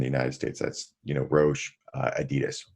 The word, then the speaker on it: Adidas: That's, Roche, Adidas, right? Or Adidas. Yeah. You want to pronounce it correctly? We're the only country that pronounces it Adidas.